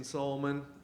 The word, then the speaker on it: Salmon: uh yeah I'm solman uh um my name is spelled salmon uh so it's often mispronounced and I never remember